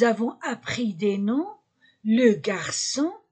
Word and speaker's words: garçon: appris des noms le garçon garçon c'est on la prononce que avec le CCD devient se le garçon o n